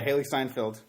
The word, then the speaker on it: Steinfeld: Also, shout out to Haley Steinfeld. Is that how you say it? Yeah, Haley Steinfeld. I keep wanting to say Seinfeld.